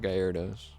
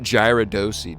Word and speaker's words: Gyarados: No, we don't have Gyarados. And it's not Gyaradosi, dude. I do not pronounce it Gyaradosi, all right?